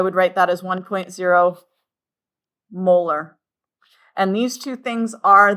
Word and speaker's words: molar: Now this capital M we don't say m we don't say moles per liter. This thing is pronounced molar.